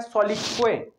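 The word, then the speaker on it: soliloquy: Next जो word है, ये जो वर्ड है ये वर्ड है सोलिक्वे। इसकी जो प्रोनाउंसिएशन है वो है सोलिक्वे, और सोलिक्वे का मतलब होता है कि जब हम अपने में ही कुछ बोलते हैं उसको सोलिक्वे कहते हैं।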